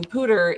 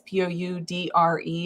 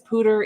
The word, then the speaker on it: Poudre: And I just want to mention Poudre is a French word. It's Poudre. It looks like poudre. Sometimes podcasts say it that way, but it really is Poudre.